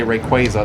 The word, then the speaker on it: Rayquaza: You may have noticed every time I say it, I say Rayquaza. That's how it's pronounced, technically.